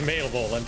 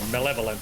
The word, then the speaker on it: malevolent: male violent until I heard it said malevolent.